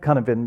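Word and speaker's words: Cynefin: It's called Canevin because it's Welsh, and apparently they don't pronounce the letters in the same way as we do.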